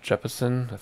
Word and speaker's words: Jeppesen: know I have found some jeppesen that's how you say it some jeppeson sites for